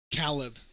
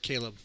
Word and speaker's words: Caleb: Calb. Calb. Yeah. Uh, a a admittedly admittedly admittedly white woman doesn't know how to say the word Caleb.